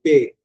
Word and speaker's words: paix: அப்ப DANS தா, அப்புறம் LA லா, த, PAIX பே, AIX எல்லாம் சேர்ந்து ஏ சவுண்ட் தான், பே.